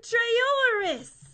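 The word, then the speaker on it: Trayaurus: run super fast anti Bob cool it's Dr trolis did I say his name right that's the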